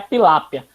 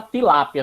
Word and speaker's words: tilápia: A pilápia é porque dependendo da região, as pessoas chamam pilápia, pilape, mas é somente a pronúncia das pessoas que vai acostumando e aí vai passando, mas é a tilápia.